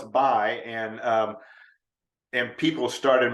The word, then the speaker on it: Bye: asked before we started how to pronounce my name well it's bi and um and people